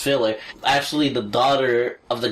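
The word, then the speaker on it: Philae: isn't it like now I'm pretty sure it's more Latin like file a pH pH o AE yeah like file a okay I'm pretty sure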